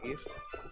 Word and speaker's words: GIF: el creador de los GIFs, esto le tiró la mierda porque dijeron que era un, ¿cómo se llama? Un tipo sin conocimiento literario. ¿En serio? Sí, porque en realidad se pronuncia GIF, o sea, Graphic Interchange, no me acuerdo qué más.